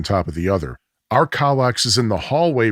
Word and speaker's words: Kallax: The Kallax storage cubes, Kallax. By the way, I got my pronunciation from Google Translate.